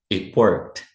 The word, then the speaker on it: it worked: Ó, it worked. It worked. Esse t do it, ele quase não pronuncia.